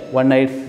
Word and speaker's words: one-eyed: So actually this word looks like vowel, but it pronounced like consonant.